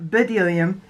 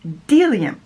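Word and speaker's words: Bdellium: been saying these wrong it's not bedelium it's deliam delia i should i'm an idiot i should have known in french there's enough times that there's a silent letter silent consonant all the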